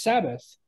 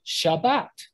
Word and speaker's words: Shabbat: Like Sabbath, some people pronounce it as Sabbath. Some people pronounce it as Shabbat.